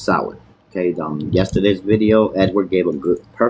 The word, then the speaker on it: Samhain: This is Samhain. It's not Sam Hain. It's not a first nor a last name either. It's pronounced Samhain.